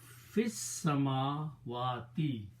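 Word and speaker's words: في السماوات: When you read them together, you do not pronounce this alif, so pronounce fis samawati, in the heavens.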